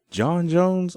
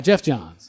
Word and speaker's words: Geoff Johns: I'm have to say I always mispronounce name but I must say Jon Jones always mispronounce it is it John - Gio yeah it's Jeff Jeff Jeff Jones okay yeah Geoff Johns yes and Bryan here I